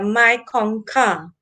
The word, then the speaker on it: Mekong: But actually the pronunciation is the Mekongka.